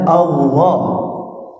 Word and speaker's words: Allah: Tuhan kita bernama Allah di Indonesianya ditulis Allah tapi tetap kita bacanya Allah tebal di situ ya TB sekarang